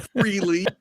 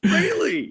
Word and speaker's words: Frehley: on this show kids it's not fre yeah it's Frey I know I don't even know where that came from I think freely just sounds more common but yeah it's Frey I have a quick